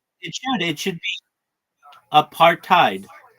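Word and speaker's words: apartheid: In the future though, people will say it the way that I say it and that's a partheid and or they'll change the writing of it and it'll be a part tide because I guess it's because it's an African's word.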